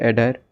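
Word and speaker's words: audire: Latin word है Latin word क्या है सर एडर ठीक है स्पेलिंग ठीक से याद करिए ए यू डी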